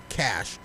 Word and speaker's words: cache: says cash absolutely right it's pronounced cash the final e is silent this is also proof